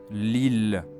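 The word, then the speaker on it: Lille: of France near Belgium, there is a double letter L in the middle. Yet you only read it as one L sound. Listen carefully again. Liil li.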